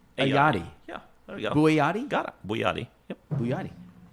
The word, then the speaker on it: Bouayadi: My guest today on episode 181 is, make sure I pronounce it correctly, Bouayadi. Yeah, there we go. Bouayadi?